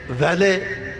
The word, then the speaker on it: valet: یہ ویلے VALET یہ لفظ ہے، فرانسیسی سے انگریزی میں آیا ہے، اور اس کو ویلٹ بھی کہتے ہیں. صحیح تلفظ اس کا ویلے ہے.